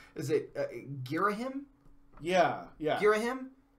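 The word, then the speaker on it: Ghirahim: Girahim.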